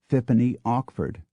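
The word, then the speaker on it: Okeford Fitzpaine: But perhaps the strangest of all is Okeford, Fitzpaine, Dorset, which many locals pronounce, for reasons no one can begin to guess at, Fippany Ockford.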